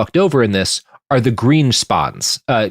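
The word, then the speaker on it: Grynszpan: in this are the Greenspons. uh g r y ns z p a ns but I think it's pronounced greenspan or something like that.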